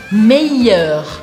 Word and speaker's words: meilleur: Meilleur, meilleur. Eu quero que você esqueça que tem um L aqui no meio e que você pronuncie como se fosse um I.